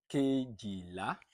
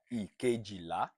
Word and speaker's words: kejìlá: Kejìlá or ìkejìlá. Please note the difference between this pronunciation is just dialect, but there's no way you pronounce it that is not correct.